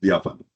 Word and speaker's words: diáfano: Se dice así, sí, diáfano.